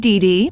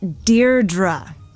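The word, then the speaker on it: Deirdre: Hi, Dee. Dear Dra, I know it's got that tricky second syllable, but I figured it out by age two. Don't give up. You'll get there.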